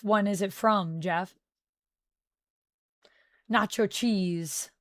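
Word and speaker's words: Natchios: Nacho cheese. That's how we say it.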